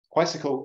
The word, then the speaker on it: Quisicle: Quisicle is a 4-dimensional quantum bicycle. So it's spelled just like bicycle, but instead of the B, you put QU for 4, quisicle.